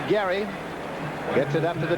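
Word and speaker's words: Gery: He spells it G E R Y and pronounces it Gary.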